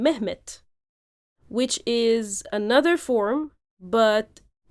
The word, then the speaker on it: Mehmet: and they in Turkish they tend to phonetically change the d, because in the Turkish language no word, phonetically speaking, can end with a d sound. So it's often transformed into t.